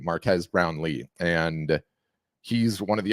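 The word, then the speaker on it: Marques Brownlee: was talking about um Marque Brown Marquez I always forget how to say his name is uh Marcus Brown Lee Marquez Brown Lee and he's one of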